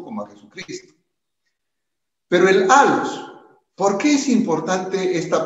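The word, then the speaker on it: ἄλλος: Pero el alos, ¿por qué es importante esta palabra alos? Se escribe con doble L.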